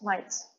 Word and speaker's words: might: Dans might, comme dans night par exemple, on ne prononce pas les lettres GH. Donc might se prononce might. Comme si c'était M-A-I-T un petit peu.